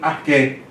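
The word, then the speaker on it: ἀρχῇ: Então ele não é pronunciado. Então por isso que você pronuncia enarché. Aqui como se fosse arquei, mas não é.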